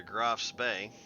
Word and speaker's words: Graf Spee: shift over to the Graf Bay. Graf Bay. Bay. I always say that name wrong. I always want to say it with an S that's not there.